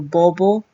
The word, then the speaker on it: bobo: A palavra bobo ou boba no Tagalog, se pronunciado como bobo, boba, o som é menos fechado.